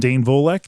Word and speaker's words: Dane Volek: across the table from Tom Riley, brewmaster, and Dane Volek. Did I pronounce that right, Dane?